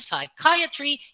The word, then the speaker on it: psychiatry: words psychology psychic and psychiatry you must never sound the pea psychiatrist you call the